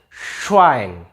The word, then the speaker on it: Schwein: Kalau ini bacanya Schwein. Nih, SCH sama EI dibaca I kan.